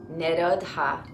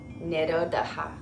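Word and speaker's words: निरोध: Vritti, vritti, nirodha, nirodha, nirodha.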